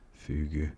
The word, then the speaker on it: fugu: Fuge it's pronounced Fugu.